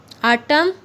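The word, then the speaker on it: autumn: आटम, N silent letter है।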